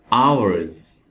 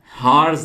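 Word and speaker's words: hours: और दोस्तों यहां पे आप एच को नहीं पढ़ेंगे क्योंकि यहां पे एच साइलेंट है। तो ये वर्ड है आवर्स। हार्स नहीं पढ़ना इसको, आवर्स।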